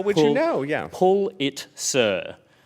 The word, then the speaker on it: Pulitzer: Pulitzer, which feels right.